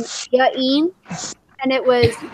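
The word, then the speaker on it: J'Gene: apostrophes everywhere and like try to make the pronunciation sound good. Like, I've met somebody before with the name Jaeen, and it was J apostrophe G E N E.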